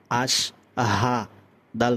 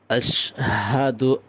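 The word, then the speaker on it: أشهد: আবার আশহাদু আল্লাহ ইলাহা ইল্লাল্লাহ। আশা করছি বুঝতে পেরেছেন। পরের স্টেপ দেখেন, আমরা শেষ জবর আশহাদু, আশহাদু, দাল পেশ দু আশহাদু, আমদানু জবর আন, আন একালিফ গুণনা করবেন।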